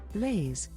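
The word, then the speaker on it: Blace: who's this Grace queried this is bla my cousin pronounced like blae but spelled b l a c e Caleb responded Blaze these are my friends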